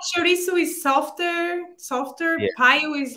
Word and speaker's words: paio: Paio is the correct pronunciation, right? Paio. Yeah, paio.